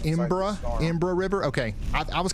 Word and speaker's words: Embarrass: That's where the actual it's pronounced Imbra River. Okay. I I was calling it Embarrass River the other day. Imbra River.